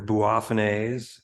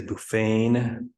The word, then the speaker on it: Boophone: way to do it you could say they're bua which is the correct pronunciation according toh Richard D who's now passed but he wrote a book on Cape bulbs he can just say buffan which sometimes you'll see it spelled that way